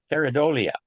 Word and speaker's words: Pareidolia: How do you pronounce that word? Pareidolia.